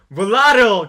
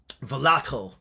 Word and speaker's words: volatile: volatile. 그렇죠. 이 단어 때문에 여러분들이 헷갈려 하는 거예요. volatile 또는 volatile 뭐라고 발음하든 상관없습니다.